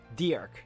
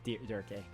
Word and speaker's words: Dirk: Dirk, not Durkee. That's how they pronounce it.